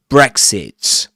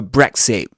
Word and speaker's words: Brexit: Um, so Brexit, Brexit, not Brexit. But of course he could have said Brexit, but I mean it's not that Brexit with a gloal stop is correct and Brexit pronouncing the T sound at the end is correct, you know, or incorrect, you